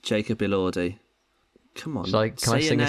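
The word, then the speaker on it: Elordi: his name um what's the song it is a Lordi he said good day I'm J Jacob AI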